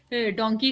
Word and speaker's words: donkey: हम horse cards या डोंकी cards को देखेंगे, सही, तो अच्छा, ये वर्ड ना, इसकी प्रोनाउंसिएशन हमेशा याद रखिएगा, ये DONKEY डोंकी होता है, और MONKEY मंकी होता है, मोंकी नहीं होता, सही है।